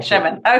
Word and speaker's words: Shevin: Kevin, like Shevin, like Kevin. Shevin.